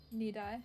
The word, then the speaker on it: Nidai: Nidai.